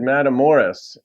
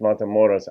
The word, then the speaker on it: Matamoros: love Billy's voice um he pronounced motos differently he said madam Morris and I guess that's more of um a gringo pronunciation who doesn't understand Spanish but I'm pretty sure it's mon moros I was in O